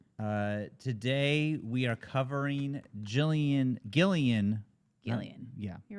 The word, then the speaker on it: Gillian: Gillian.